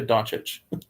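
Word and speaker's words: Dončić: really good chance yeah people keep saying don't check or yeah they they cannot get donch it's right Luka doncic not it's really not that hard as a Dallas fan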